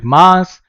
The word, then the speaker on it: Mars: as well okay so pronunciation of this planet is going to be mass you have to improve your pronunciation r is going to be silent okay now you may